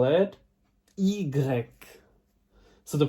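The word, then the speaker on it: i grec: greek language we are going to call it egreg so the pronunciation will be easier but it will help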